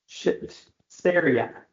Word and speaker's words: Seraiah: King of Ezra Artaxerxes, king of Persia, Ezra the son of Seraiah. Seraiah. Try I'm going to get it right in a minute. Seraiah is how you say it.